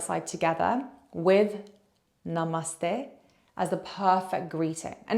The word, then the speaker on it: namaste: naste naste now let's put it all together Namaste Namaste Namaste and again close your eyes and